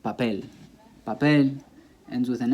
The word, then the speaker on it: papel: So one paper, the stress is on the last syllable because it ends with an L, papel.